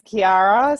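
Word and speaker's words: Chiara: Hi guys, my name's Kiara, spelt with a CH, so everyone calls me Chi.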